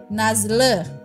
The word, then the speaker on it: nazlı: Ei kemudian nazli itu nazli itu karena enggak ada titiknya ya si I itu enggak ada titiknya bacanya e nazle nazle Hilal jadinya ulang ya